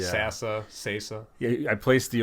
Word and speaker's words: Sasa: or Johnny Joanie Try try not having an H in your name but pronounce it Sasa Sasa yeah.